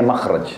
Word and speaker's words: makhraj: Bahasa Arabnya itu mim, kha, ra, jim. Bacanya makhraj.